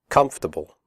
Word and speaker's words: comfortable: The word comfortable has 3 syllables, not 4. The OR is silent. We say comfortable, not comfortable.